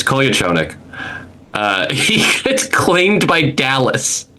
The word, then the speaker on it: Kolyachonok: No one learned how to say his name, but it's Kolyachonik.